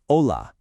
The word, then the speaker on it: hola: The H is always silent. I mean, always. So it's never, ever hola, it's hola.